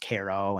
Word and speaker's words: Cairo: Like Cairo looks like Cairo, but it's pronounced Caro.